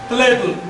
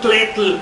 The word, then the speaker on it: tletl: Tletl. Bueno, pronunciamos en español tletl. Suena muy tosco. Tletl. Es con los laterales de la lengua, no con la punta.